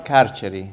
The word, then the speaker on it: carceri: The carceri.